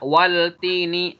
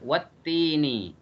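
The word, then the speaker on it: وَالتِّينِ: Nggak boleh dibaca wal-tini, salah. Dibacanya wat-tini karena huruf syamsiah.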